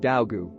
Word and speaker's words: Daogu: He says to me something that sounds like Daogu, with Dao rhyming with how or now.